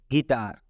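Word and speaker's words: guitar: तरफ लेकर चलते हैं गिटार गिटार में यू के बाद आई आया है और यह आपका आई वावेल है जब यू के बाद कोई वावेल आता है तो यू साइलेंट हो जाता है जैसे अभी हम उच्चारण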